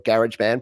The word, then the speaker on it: GarageBand: So using GarageBand, as you say, or GarageBand, Patrick will be very happy that you pronounced it correctly, GarageBand.